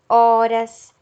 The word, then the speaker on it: horas: o outro exemplo havaianas horas também são palavras que tem no início a letra h e esse h não representa som e representa o som das vogais que acompanham no caso havaianas o